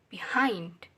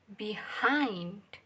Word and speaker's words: behind: is low below uh be be behind this is hind behind it's before before that